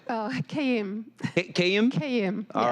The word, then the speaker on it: Kayim: Can you help me, first off, clarify the proper pronunciation of your last name? Oh, Kayim.